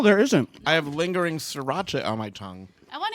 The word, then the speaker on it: sriracha: Yeah, sriracha is spelled not the way that you would expect it. SR, yeah. Yeah, it's Sriracha.